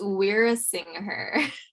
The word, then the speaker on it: Weerasinghe: with me i don't know how to pronounce her last name even though i'm also brown i'm gonna butcher it so it's we're a singer so thank you for having me um my